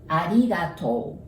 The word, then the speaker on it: ありがとう: And when you see an OU together, we pronounce it like O, arigato.